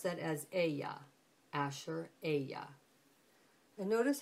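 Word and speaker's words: אֶהְיֶה אֲשֶׁר אֶהְיֶה: pronunciation is what's interesting here here you would pronounce that as Aya Asher Aya and notice how you see the father's name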